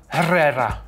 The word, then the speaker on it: Herrera: teach me it's a so erera or erera Herrera there you go Herrera that's wonderful that's